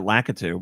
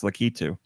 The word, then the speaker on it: Lakitu: heard nintendo say because i always said it lackatoo but it's lakitu um all right nintendo